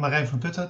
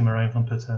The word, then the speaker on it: Marijn Van Putten: So I'm Marijn Van Putten. That's how I pronounce it in Dutch, but most people say Marijn Van Putten, and that's good too.